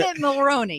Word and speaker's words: Dermot Mulroney: Dermot Mulroney.